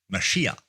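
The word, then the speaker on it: מָשִׁיחַ: So, we have the English word Christ, transliterated from the Greek word Christos, which is translated from the Hebrew word Messiah, pronounced Mashiach. So, whether we say Mashiach, Messiah, Christos, Christ, they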